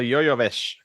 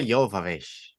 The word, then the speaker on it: Jovovich: All right, Mila Jovovich. Mila Jovovich. Yoya or Yo-Yo? Jovovich. Oh, Yova. Jovovich. I don't know, man. It's just the J is pronounced with a Y.